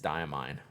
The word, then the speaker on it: Diamine: allen chaos chuteco uh emailed dyamine to figure out how they say it in its diamine right i think yeah we